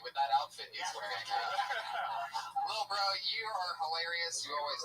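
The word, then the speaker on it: Lil Brough: He spells bro with 3 silent letters at the end.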